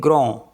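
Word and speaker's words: grand: आता है for example ji आर ए एन डी तो इसको पढ़ेंगे ग्रो ग्रो मीस होता है बिग D salient N ओ आर डी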